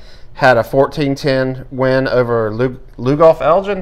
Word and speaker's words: Lugoff: Somerville had a 14-10 win over Lugoff Elgin. Am I pronouncing that right, Rob? That's correct.